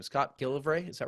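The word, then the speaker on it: McGillivray: We should mention, how do you pronounce Scott's last name? Scott Gillivray. Is that right? McGilvery.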